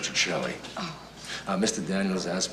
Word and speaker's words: Petrocelli: expensive Mr Petrelli it's um it's pronounced that Chelly oh uh Mr Daniels